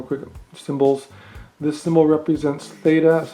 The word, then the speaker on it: theta: here one real quick symbols this symbol represents theta is how you pronounce it's the greek letter alphabet representing theta